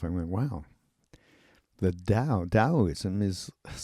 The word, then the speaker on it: Taoism: Dowoism t ao iM pronounced daoism.